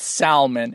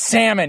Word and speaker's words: salmon: my work call it salmon, and it's disgusting. Don't ever call that fucking fish salmon. It's salmon, you fucks. I know there's an L there. You don't pronounce it.